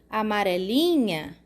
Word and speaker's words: amarelinha: foi sublinhada por que a sílaba mais forte quando a gente fala essa palavra aonde a gente bota a maior força nessa sílaba ó amarelinha pode não ser uma força